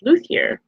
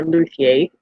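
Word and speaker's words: Luthier: So, my number 30 is Luier. Um or Luier. Um some people will say that it's pronounced differently, but my wife tells me it's Luier, so I'm going to pronounce it properly.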